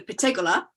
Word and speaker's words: Pettegola: so italians always put the emphasis on the last uh the last syllable so it's the patagola um and there we